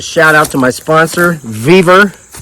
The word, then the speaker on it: Vevor: The vertically challenged people who live under bridges tell me I say it wrong. They say it's Vivore, but I made this company millions of dollars in the last couple years, so they don't care how I say it.